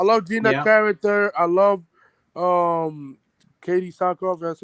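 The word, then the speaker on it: Katee Sackhoff: I love Katie Sackhoff. That's how you pronounce her name.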